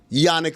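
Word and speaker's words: Jannik: Number 1 is, we talked about him yesterday, Yannick Sinner, even though it's spelled with a J. We all say Yannick Sinner, right?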